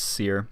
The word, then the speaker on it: Seer: I thought it was Siri, but apparently it's Seer.